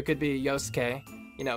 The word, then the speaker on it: Yosuke: Well, in honor of Sho's cosplay of Yosuke. You see, that's a pronunciation that I would more readily jump to, where you can actually hear the z.